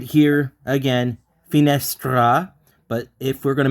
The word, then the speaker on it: finestra: So finestra. And as you can notice, the one that you hear the most is S.